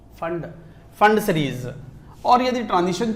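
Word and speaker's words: Pfund: यू एन डी फंड P silent है पफंड नहीं पफंड ना है फंड फंड सीरीज और यदि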